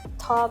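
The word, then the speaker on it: taupe: จะ กด t a u p e ท็อป ไม่ รู้ ท อ๋อ มัน อะไร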